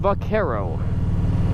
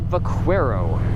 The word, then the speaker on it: Vaquero: that would be the vacaro pronounced Vaquero not Vaqueros at least that's how I always pronounce it I want to I